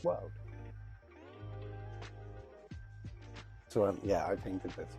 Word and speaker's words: WLD: their acronyms so wld and then it's pronounced world so yeah I painted